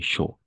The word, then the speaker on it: chaud: A-U, toujours O. Il fait chaud.